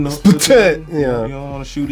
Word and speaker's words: Splatoon: And Splatoon, no Splatoon. You don't want to shoot ink everywhere. And that's exactly why I say it like Splatoon, because I feel like that's how you're supposed to say it.